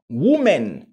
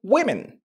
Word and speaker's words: women: Woman. Non, vous direz plutôt women.